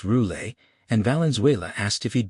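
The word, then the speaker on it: Roulet: The client's name was Louis Ross Roule, pronounced Roule, and Valenuela asked if he'd be there.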